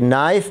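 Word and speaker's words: knife: कि यह ग्रह जान अगर आप जानते हैं कि नाइस में के जो है वह साइलेंट है अगर कोई उसको कन्हाई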